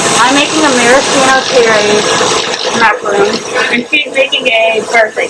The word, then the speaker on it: macaron: it's coconut macaroons when it's like an American product, but the French pronunciation is macaron.